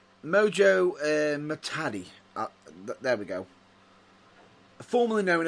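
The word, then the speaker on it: Muhtadi: Genuinely, Mojo Matui. Is it? Actually, apologies if I butchered that name. Again, another name that we've butchered. Mojo Matadi.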